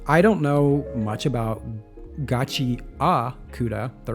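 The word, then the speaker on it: Gachiakuta: is I don't know much about Gachi Auda, the right way to say it apparently.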